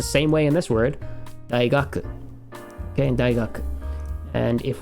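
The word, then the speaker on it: 大学: In this case, pronounced dai, although it can be pronounced several different ways depending on the word.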